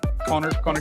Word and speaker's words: Kahner: I am just Connor. So just Connor, like spelled like this. It's backwards. Kahner for the listeners. That's actually my real name. No English teacher ever got it right except for my wife.